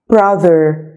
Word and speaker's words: brother: ومنساش وانا بنطق brother TH بنطقها brother. brother. لازم لساني يطلع شوية فيها، ما بقولش brother. no. brother.